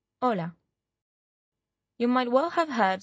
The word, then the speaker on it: hola: Pak began by saying Ola Lisa Ola Martin hello Lisa hello Martin the first thing thing you'll notice is that although you see an H in Ola you don't pronounce it listen hola you might well have